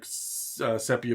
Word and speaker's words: sepia: Sepia or sepia? Yeah, I've actually heard it pronounced both ways, but I said it the opposite way that you said it last time.